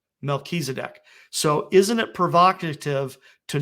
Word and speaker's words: Melchizedek: And this final little point here, with Jupiter being called Tzedek and Regulus being called Melech, if you put the two of them together, that would be pronounced Melchizedek. Melchizedek.